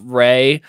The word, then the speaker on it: Ralph: How many people are out there that have named their dog Ray, but it's spelled Ralph, like Ray Fiennes?